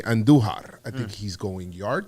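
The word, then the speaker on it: Andújar: Roll your R's when you say Andujar.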